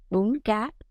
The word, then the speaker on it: Bún Cá: as Bun Ca, or in Vietnamese we would pronounce it Bun Ca, which literally means vermicelli noodle with fried fish.